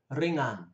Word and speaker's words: ringan: R low ringan light watch the pronunciation of that word ringan we don't hear the G very strong at all because it's only one G sikit for a few